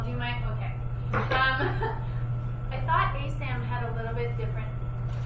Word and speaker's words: ASAM: How do you say it? ASAM. ASAM. That's right.